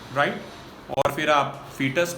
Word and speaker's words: foetus: फीटस ही pronounce करते हैं but spelling है FOETUS।